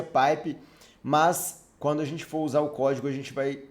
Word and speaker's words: pipe: sobre o operador paip né se pronuncia pai pe mas quando a gente